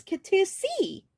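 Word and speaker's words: Catoosa: They'll hear you all the way to Katoosie. Okies. When we pronounce Miami as Miami, and Katusa as Katusi, because science or something.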